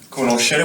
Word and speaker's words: conoscere: And the verb conoscere, which means to know, or to get to know. And we pronounce it sh.